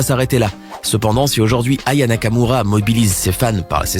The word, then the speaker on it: Aya Nakamura: Tout commence au Energy Music Awards 2018 au moment où l'animateur Nikos s'apprête à présenter Aya Nakamura juste avant qu'elle se produise sur scène.